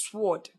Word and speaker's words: sword: You therefore have words such as sword pronounced with the letter W inclusive, whereas W is silent in the word. Rather than pronounce SWD, you should pronounce S-D.